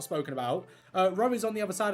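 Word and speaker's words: Roe: Ro is on the other side of this page. Ro, for those who are wondering, is spelled R-O-E.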